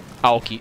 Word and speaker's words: Aoki: Aoki, by the way. That's how you pronounce it.